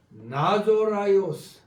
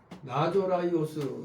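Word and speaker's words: Ναζωραῖος: 나사렛 정확히 발음하면 나조라이오스. 나조라이오스 이렇게 발음이 되는데 우리말로 나사렛 이렇게 발음합니다.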